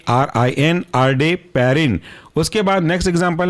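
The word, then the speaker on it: Ardeparin: ए आर आई N next example है आपका आर day Perrin A आर डी ई पी ए आर आई एन आर day Perrin उसके बाद next example है आपका Dana पा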